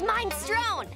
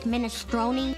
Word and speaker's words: minestrone: I get his mind strown. Lenny, it's pronounced minestrone.